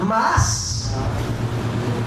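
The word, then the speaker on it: מאס: La palabra desechar viene de la palabra en hebreo maas, con acento en la A, la última A, es doble A, maas.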